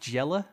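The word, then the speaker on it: Jelle: good check out it I think it's pronounced G yella so it's je l l es marble runs he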